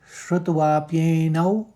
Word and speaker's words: श्रुत्वाप्येनौ: फिर चौथे चरण को देखिए, यहाँ पर श्रुत्वाप्येनौ अनुस्वार व हो जाएगा और 2 आघात हैं, तो श्रुत्वा श्रुत कहेंगे, फिर त्वाप्येन, त्वाप एक साथ निकालेंगे, पौ का आघात ले लेंगे और प्येनौ प्येनौ, 9 में अनुस्वार, श्रुत्वाप्येनौ। फिर वेद वेद वेद नाचैव,